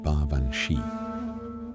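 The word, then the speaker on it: Baobhan Sith: The name is Gaelic, pronounced baranchi, and it means fairy woman, which is a deceptively gentle way of describing something that is not gentle at all.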